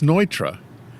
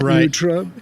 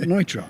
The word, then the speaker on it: Neutra: not frud but Frey it's not Nutra but Nitra it's ntra it's ntra